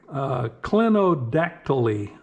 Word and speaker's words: clinodactyly: It's called clinodactyly. I believe that's Clinodactyly. Clinodactyly, I believe it's pronounced.